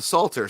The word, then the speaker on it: Psalter: The Psalter? Yeah, the Psalter.